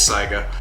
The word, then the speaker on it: Saiga: hear some people say Sega but it is Saga you were originally introduced in the 70s in